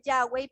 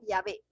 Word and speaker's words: Yahvé: Pensando, metiendo la W ahí, que es como llegó hacia nosotros el Yahweh, pero la pronunciación de ellos sería Yahvé, sino Yahvé, que era un sustituto para no mencionar el bendito nombre de Jehová.